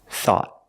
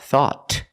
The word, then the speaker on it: thought: anything we found thought thought at the end the tongue goes up and makes a stop te not thought but thought thought thought I thought